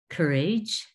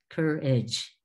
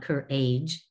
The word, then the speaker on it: courage: And courage, cour age not car age, cour age.